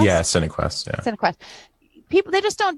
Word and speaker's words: Cinequest: Cinequest? Yeah, Cinequest.